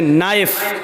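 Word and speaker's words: knife: कुलशील बोला नहीं जाएगा जैसे इंग्लिश में नाइफ किसको कहते चाकू को ए नाइस के मानक चाकू लेकिन के लिखा जाता है बोला नहीं जाता वह साइलेंट रहता है अ शो मी घुटना इंग्लिश में नि मानि घुटना लेकिन के लिखा हो कुछ नहीं जाता पढ़ा नहीं जाता ऐसी अरबी ज़बान में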